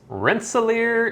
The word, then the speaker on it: Rensselaer: Fenwick's, apparently they have a brewery and a public house in Rensselaer, Indiana. That's how you say it, apparently.